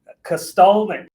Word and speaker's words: Kosztolnyik: Today we have Kosztolnyik.